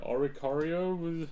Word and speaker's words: Oricorio: don't even know how to say it name oricorio his yeah that's that's correct is it yeah oricorio yeah I did it um yeah you kind